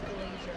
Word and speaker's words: Glaser: At the 2025 Golden Globes, comedian Nikki Glaser, I've been told this is Glaser, but I want to say Glasser because that is how it's spelled, but whatever.